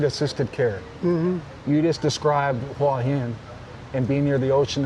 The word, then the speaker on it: Hua Hin: Hua Hin.